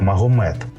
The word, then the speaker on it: Магомет: Хлопчик якого назвали мухаммедом в Європі це ім'я що вимовляють як Магомет був вихований в традиціях